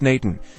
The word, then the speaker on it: n8n: And Nate N, pronounced Nathan, is a powerful open-source